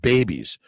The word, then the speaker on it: BEBBIS: And it's pronounced babies. BEBBIS.